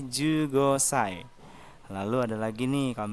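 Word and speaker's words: 十五歳: Jadi 10-nya Ju, umur 5 Gosai. Jadi digabung jadi Ju Gosai.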